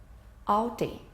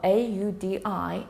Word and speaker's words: Audi: Well, in English, AU is generally pronounced as AW, as in the word auger and automobile. The correct pronunciation of AUDI is Audi and not Audi.